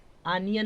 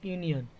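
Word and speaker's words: union: ए हो जाएगा समझ यूनियन अनियन नहीं पढ़ेंगे यूनियन तो क्या हो जाएगा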